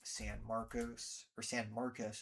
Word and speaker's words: San Marcos: City, Live Oak, Selma, Garden Ridge, New Braunfels, San Marcos is how they pronounce it, Kyle, Buda, Austin, Rollingwood, Westlake Hills.